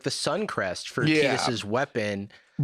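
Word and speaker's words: Tidus: in the like Tetus pronunciation and why it's pronounced Tetus instead of Titus.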